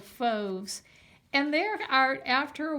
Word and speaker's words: Fauves: Fauves is a word. It rhymes with the word stoves.